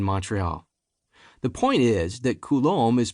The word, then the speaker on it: Coulombe: The point is that Coulombe is pronounced Coulombe.